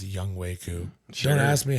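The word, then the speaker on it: Younghoe Koo: Young Ho Koo. It's pronounced Young Wei Koo. Sure. Don't ask me how H-O-E. H-O-E is Ho. Young Ho Koo. It's Wei.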